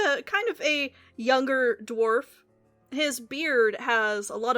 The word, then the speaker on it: Dwerf: It's like Dwarf, DWERF is his first name, and then it's like NUBA, like Nubba 3.